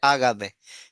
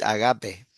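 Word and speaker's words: ἀγάπη: Porque todos estamos acostumbrados a escuchar, viste, en la iglesia, el agape. No, es agape.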